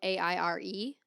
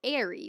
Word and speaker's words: Aire: Is that pronounced like air, or is it pronounced like airy, like stormy and airy? She did clarify that it is in fact pronounced air, but I'm sure that they call him airy, like airy.